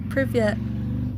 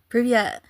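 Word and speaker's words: привет: Privyet. Privyet. Oh my gosh, I learned a new word. Yay. Privyet. Privyet. Privyet. Privyet. So you have to pronounce the T, right?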